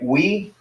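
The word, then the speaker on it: υι: And so the next one, upsilon iota, is going to be like we. So you pronounce it we.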